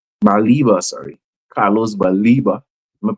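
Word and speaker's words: Carlos Baleba: You have Carlos Barella, Baliba, sorry, Carlos Baliba. I'm gonna pronounce the guy's name properly because hopefully he'll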